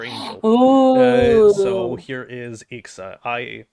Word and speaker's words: Ixa: So here is Ixa, it's spelled I-X-A.